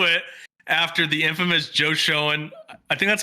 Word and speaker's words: Schoen: willing to do it after the infamous Joe Schoen, I think that's how you say his name, Schoen, yeah.